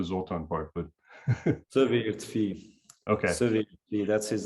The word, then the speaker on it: Szövérdfi: You're going to have to help me with the pronunciation. I can get the Zoltán part, but Szövérdfi. Okay. Szövérdfi, that's his name.